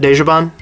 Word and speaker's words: Dejobaan: you on because you are now working with Deja Bond games is that how they pronounce that desjaban yeah and uh and you guys are working